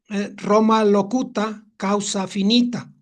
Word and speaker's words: Roma locuta causa finita: Y hay una frase en latín que se pronuncia Roma locuta causa finita, que no es otra cosa sino que habla Roma, la discusión termina.